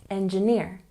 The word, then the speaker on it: engineer: And engineer. We have a subtle stress on the first syllable, and the main stress is on the last syllable. Say it with me. Engineer.